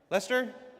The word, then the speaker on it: Leicester: How do you say? Is that Leicester? Leester.